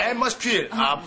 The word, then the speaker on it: atmosphere: Atmosphere. 분위기. 예. 분위기. 여기스펠링이 그 PH가 들어가잖아요. 중간에서. 그 발음이 F 발음으로 해야 돼요.